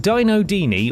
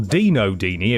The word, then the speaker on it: Dino Dini: Indeed, Dino Dini, or Dino Dini, if you want to pronounce it different, if you want to get different about this, is not a prehistoric